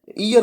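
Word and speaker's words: heir: यहाँ पे जो एच है वो साइलेंट है, ईयर बोला जाएगा इसको, ईयर।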